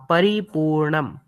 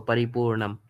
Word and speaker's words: परिपूर्णं: Paripurnam, like the dot you can see uh, above here has Yeah. to be pronounced as ma. So Paripurnam.